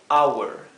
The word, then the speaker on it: hour: Hora es hour. Hour. Fíjense que lo he escrito our, pero traten de pronunciarlo our. Our se pronuncia exactamente igual que esta otra palabra.